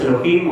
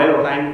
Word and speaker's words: Elohim: Sí, los Elohim o Elohim, yo ya os digo, no soy nada tiquismiquis con los nombres.